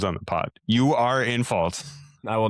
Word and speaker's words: Infalt: Is it N or in? Well, Infault, probably. Dan Infault. Infault. Yeah. Okay. Infault. Because that's how it's spelled. Like, okay. Infault. Yinfield? Outfield. I think I was saying Enfield or something like that. Yeah. It's INFALT. Infault.